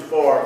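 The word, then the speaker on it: pho: we're going to have looks like f pronounced fa for breakfast I thought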